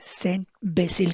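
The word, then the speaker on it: Saint Basil: सेंट वेसिली को English में सेंट बेसिल करके प्रोनाउंस किया जाता है।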